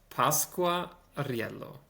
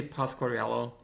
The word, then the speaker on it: Pasquariello: So, my name is pronounced Pasqua Rial. Oh, I am not going to get those Rs. Yeah, it's it's a mouthful. Um uh so it's if you can say Pascorello, something like that.